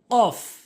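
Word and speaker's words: ق: কফটি উচ্চারণ হয় জিব্বার গোড়া উপরের তালুর সঙ্গে, কফ, কফ।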